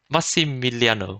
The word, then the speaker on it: Massimiliano: letters in one word mussi miliano i got that right right no i took two nails massimilia massimiliano you said it right your notes are wrong